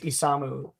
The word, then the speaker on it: Isamu: Uh and his name is Isamu and um he's a uh he is a Valkyrie test pilot.